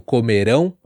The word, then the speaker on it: comerão: Muito parecido, comerão, comeram. Uma sílaba muda tudo e aonde vai a ênfase, a tônica da sílaba, muda todo o sentido.